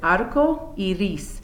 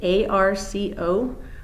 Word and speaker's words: arco iris: Another item that students often ask me about is how you say rainbow, and that is, the word for rainbow is arco iris. It's A-R-C-O-I-R-I-S, arco iris, okay, for rainbow, because a lot of kids like that too.